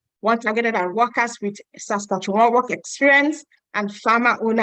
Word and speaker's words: Saskatchewan: A lot of people ask me, how do you pronounce that? Saskatchewan.